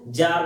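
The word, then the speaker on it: Tsar: Russian language में king को जार बोला जाता है। जार बोला जाता है और इंग्लिश में उसको लिखा जाता है। टी से स्टार्ट होता है। टी उसमें क्या होता है? साइलेंट होता है।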